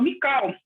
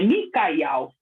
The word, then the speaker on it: Micael: O papai falou assim, agora está na hora de vocês saber o nome, a forma correta de pronunciar o nome. É Micael, né?